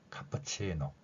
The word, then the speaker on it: cappuccino: 썼고요 오른쪽에는 이탈리아어 발음입니다 마찬가지로 피가 쌍 비에 가까운 소리가 이탈리아의 특성이기 때문에 카프치노 카프치노 이렇게 표현했고요 영어에서는 카프치노 어 카프치노